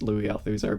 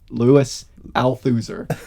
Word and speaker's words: Althusser: that you were the first one to pronounce louis althusser because up until last week i was calling him louis louis althuser so you know what